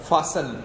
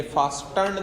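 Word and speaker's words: fasten: एक यूनिट सा था, फासन, ये बेटा टी इसमें साइलेंट है, ये फास्टर्न नहीं आएगा, फासन आएगा, फासन कहते हैं जुड़े हुए होना।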